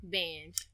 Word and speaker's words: Bange: Bange.